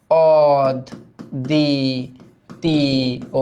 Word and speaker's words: অদ্বিতীয়: এইটা দেখো বফলা মাঝে থাকলে দ্বিত্ব হয় না? তাহলে এটার উচ্চারণটা কি হবে? অদ দি তি ও। এখন তোমরা বলতে পারো ভাই রস্বইকার থাকার পরেও এটা ও কেন হলো না? কারণ এটা নেতিবাচক, যে দ্বিতীয় কেউ নাই, অদ্বিতীয়, দ্বিতীয় হয় না। নেতিবাচক শব্দে অ এর উচ্চারণটা থেকে যায়।